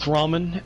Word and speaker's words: ramen: My tummy is filled with ramen, and I am drained of piss. So let's get this shit. You have to pronounce it the most American way possible, though.